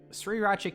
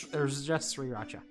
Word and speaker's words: Sriracha: So, sriracha ketchup.